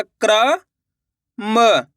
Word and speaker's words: क्रम: म तो मिलके बन जाएगा क्रम। कैसे पढ़ेंगे? क्रम। दोस्तों तेजी के साथ इसका उच्चारण निकलता है। क्रम इस तरीके से। यानी कि र का आपको आधा उच्चारण निकालना है।